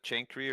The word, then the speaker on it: chancre: So syphilis has a chancre or cancre, I don't know how to pronounce this.